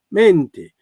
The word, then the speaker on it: menti: La parola menti in siciliano, che non differenzia tra e aperta e chiusa, si pronuncia aperta, menti, ma non in toscano.